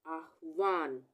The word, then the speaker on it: आह्वान: तो यहाँ पे आ के बाद आधा ह आ रहा है और व पूरा आ रहा है, तो आह्वान, वान ये हो गया आह्वान, आधा ह और व पूरा, आह्वान।